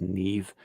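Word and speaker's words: Niamh: from Irish mythology I think her name is Neve yeah yeah but it's spelled like yeah n-i-a-d-h -e-e-v-e you get a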